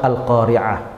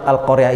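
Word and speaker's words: القارعة: namanya Qoriah jadi surah al-qariah itu artinya adalah perempuan yang pandai baca Quran ini kan keliru ya al-qoriah dengan al-qariah Ain dengan Ain itu beda Ain dengan Alif itu beda cara bacanya kah keliru nafsirinnya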